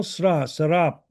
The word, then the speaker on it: 스랍: 내가 본즉 주께서 높이 들린 보좌에 앉으셨는데 그의 옷자락은 성전에 가득하였고 스랍들이 모시고 섰는데 영어로는 세라빈이라고 그러고 이제 히브리어로 스랍 이렇게 발음하기 때문에 한국말로도 그냥 스랍이라고 이렇게 번역을 해놨어요.